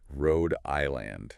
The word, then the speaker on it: Rhode Island: The stress is on the first syllable of the second word. Rhode Island.